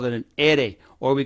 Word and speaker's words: ere: letter r in spanish we call it an ere or we call it an and when we do we spell it like this the letter is ere now